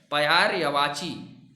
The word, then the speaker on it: पर्यायवाची: पढ़ते हैं ना, तो इसका शुद्ध जो उच्चारण होता है पयायरवाची या पयार्य होता है। उसके बाद वाची बोलते हैं इसको। तो दोनों को मिला के जब हम इसका शुद्ध उच्चारण करते हैं तो हम ऐसे पढ़ते हैं पयार्यवाची। इस तरीके से इसको पढ़ा जाता है।